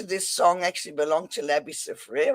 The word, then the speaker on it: Labby Sifre: Okay, the rights to this song actually belong to Labby Sifre, right?